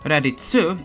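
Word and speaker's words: ラディッツ: Raditsu is a pun on radish radish with a hard t ending.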